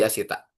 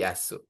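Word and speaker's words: 明日: Ini kanji asita. Oke. Kemudian kita tulis asu. Ini kanji asu. Nah, jadi mau itu asita, mau itu asu, kanjinya sama aja. Beda cara bacanya doang ya.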